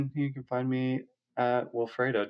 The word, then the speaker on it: Wilfredo: But I you know, so for me it was just like a funny like this is how you pronounce my name, but it's Wilfredo building Destino.